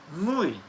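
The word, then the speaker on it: wu wei: This term is perhaps a bit awkward because the Chinese way we ei do sounds rather like the English way. So to avoid unnecessary confusion in a confusing subject, I shall pronounce wooi in the Japanese style. Mui.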